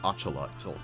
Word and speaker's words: axolotl: we of course have the axolotl or otherwise pronounced in its native novel language as achala uh which is very funny because it sounds a lot like ocelot but these guys are